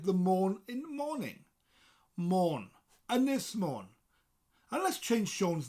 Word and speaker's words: Ynys: Ynys Môn.